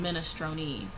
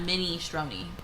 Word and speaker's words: minestrone: minestrone It's or minestrone. minestrone. Not mini stroni.